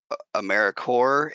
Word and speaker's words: AmeriCorps: First of all, AmeriCorps is it's pronounced AmeriCorps, and the P and the S are both silent.